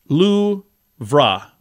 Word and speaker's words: Louvre: ver Sai Versailles uh Louvre museum in Paris is Lu VRA luvra Yosemite National Park yosemati